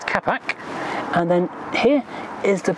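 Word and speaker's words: капот: Then bonnet opening, which is pronounced capac, and then here is the black almost hidden plastic control, which is for that radiator blind for the cold weather.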